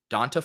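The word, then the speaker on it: D'Onta: contrarian was Deontay Foreman is it Deonte or Dante I don't I can't have a mute show and a name mispronunciation show donta Foreman donta Foreman so that play felt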